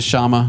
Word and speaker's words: shaman: fair yeah that's a shama Shaman I don't know how you pronounce it Shaman where you're from that's right I'm from Indiana so it's shama but I think it's a shaman um but yeah that's